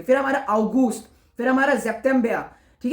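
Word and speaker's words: September: हमारा ऑगोस्ट फिर हमारा जेप्बिया ठीक है एस के साउंड जेड प्रोनाउंस होगी मैंने कहा था तो सेप्टेंबर नहीं जेपेंबिया फिर है ऑक्टोबा फिर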